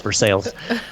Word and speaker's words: Versailles: It's spelled Versailles, but in Kentucky we can't speak English, so it's Versailles.